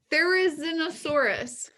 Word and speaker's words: Therizinosaurus: Therizinosaurus. Yeah. Oh man, that deserves it. Here's how you remember how to say this dinosaur's name. There is no saurus like there is an Therizinosaurus.